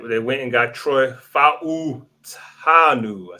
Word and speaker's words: Troy Fautanu: All right, they went and got Troy Fautanu.